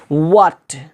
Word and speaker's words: what: जैसे वाट, WHAT, वाट, ऐसा नहीं बोलते हैं वाट, वाट, हंसी भी आ रही, वाट नहीं, व्हाट, व्हाट, Y, when, which.